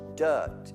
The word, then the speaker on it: dirt: then uh are the dirt dirt dirt don't pronounce the r that is sp dirt in the dirt no